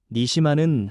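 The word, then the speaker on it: נְשָׁמָה: 그리고 생기라는 말은 히브리어 발음으로 니시마입니다. 니시마는 하나님 자신의 숨, 하나님의 생명의 숨결을 뜻합니다.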